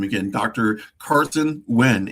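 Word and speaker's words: Huynh: Wynn. Let me make sure I say his name again. Dr. Carson Wynn, H U Y.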